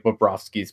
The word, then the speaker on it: Bobrovsky: And I don't really, when you look at, I know a lot of people will bring up like Bobrovsky's playoff stats.